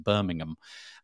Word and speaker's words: Birmingham: Our equivalent, which is spelled the same, is pronounced Birmingham.